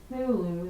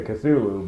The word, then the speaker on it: Cthulhu: Um, his name is Cthulu. That's how you pronounce it.